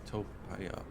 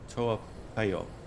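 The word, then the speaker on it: Toa Payoh: In Topaya. I know, did not pronounce that correctly. Toapayo. Okay, here we are.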